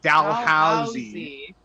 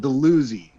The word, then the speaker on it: Dalhousie: wait sorry we have a university called dalhousie yeah which is the proper way and then a street that is called delusion in her hometown which is the improper way and it's spelt the same so i don't know